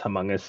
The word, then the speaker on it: Humongous: The developers of this game, I think it's Humongous. Is that how you'd pronounce it?